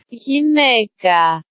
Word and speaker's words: γυναίκα: Γυναίκα. Generally, I try to pronounce foreign root words in this segment the way I've heard them used amongst scientists speaking American English.